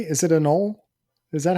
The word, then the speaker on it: anole: I believe Oh, it's Anole, Anole.